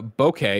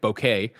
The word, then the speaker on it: bokeh: here nanobiologist says uh bokeh is pronounced like bouquet bouquet bouquet like a bouquet of flowers bouquet okay greg that's